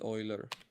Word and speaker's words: Euler: It's actually pronounced Euler, but anyways, Euler. It's pronounced oil.